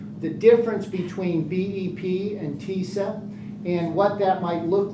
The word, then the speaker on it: TISA: Some of you pronounce it TISA. Some pronounce it TISA. I've heard it both ways in the legislature. Don't worry about it. I call it TISA.